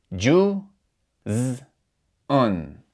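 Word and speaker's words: جُزْءٌ: So together, the Hamza and Tanween Dhamma would be pronounced Un, Un. So if we pronounce this all together, we would say Ju, Z, Un.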